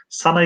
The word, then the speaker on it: sana: Ama telaffuzda tabii ki yani kalın ünlü oluyor. Sen sana şeklinde, sene değil de sana şeklinde olduğu için burada bir elif türüyor.